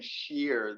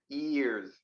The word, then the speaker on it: years: there is no just start with the open mouth start with an e sound years really it's just like e is years yes exactly but you're putting like an sh sound at the beginning you're like saying sheer no years years yes exactly exactly and continue streaming music